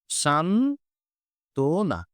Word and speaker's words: সান্ত্বনা: ফলা আছে তার মানে এই বটার উচ্চারণ করার কোন প্রয়োজন নেই এই উচ্চারণটা হবে শান্ত না তার মানে এখানে ব